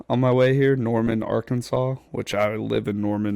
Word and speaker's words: Arkansas: AR our Kansas. Our Kansas it's our Kansas. It's Kansas, but it's it's pronounced Arkansas.